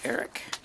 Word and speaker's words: AERIC: We pronounce it ERIC here, at Tuskegee University in Alabama.